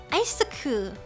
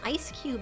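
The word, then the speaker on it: Eiscue: oh yes it's just here's the first one isoku this is isoku he is a um penguin with an ice cube head i thought oh when did reddit get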